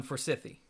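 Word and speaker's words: Forsythe: Aaron Forsythy.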